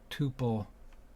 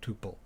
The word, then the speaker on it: tuple: I should pronounce it tuple rather than tuple, so as not to prejudice the issue.